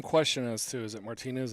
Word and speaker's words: Martinez: to is it martinez is it martinez and the word we have from jack is that it's martin as it's more of the cajun pronunciation he's from corpus christi but with family ties a little bit more east so seeing it's spelled the same way seeing it called martinez